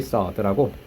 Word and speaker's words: sword: 더블 엣지 서드라고. 양날의 검이라고 들어봤니? 더블. 이게 훨씬 많이 쓰이는 단어입니다. 더블 엣지드 서드. 자, W는 묵음이고요. sword라고 있습니다.